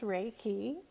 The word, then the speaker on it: Reiki: own energy as you could hear Reiki is pronounced Reiki and it sometimes translated as the universal life